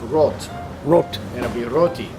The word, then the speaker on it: Roth: So had he been German and discovered that, then the name would have been pronounced Roth.